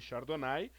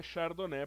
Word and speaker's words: Chardonnay: Muita gente chama Chardonnay de Chardonnay, mas o nome é Chardonnay porque é uma uva francesa.